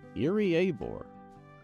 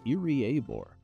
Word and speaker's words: Iriaebor: doing this this is irie aore e of aore so ear and a are your of the four syllables so make it four syllables and those are the two that you emphasize irie abore I abore is a